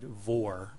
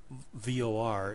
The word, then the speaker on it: VOR: say cleared V DME I said Vore almost rhyming with the word for if you try to use VR it will recognize speech